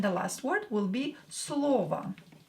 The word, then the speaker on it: слово: И последнее слово, and the last word will be слово. Слово. Same here, O is not stressed, so pronounce it as A.